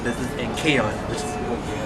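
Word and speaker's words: Kayain: also with Colourton, and also my singing name Kayon, which is spelled K-A-Y-A-I-N, and it means beloved child and high status and royalty in different countries like Arabian and Muslim too.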